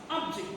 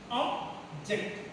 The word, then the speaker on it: object: Why object? Two syllabic word is here. Whether it is a two syllabic word, when it is a noun, we have to stress on the first syllable.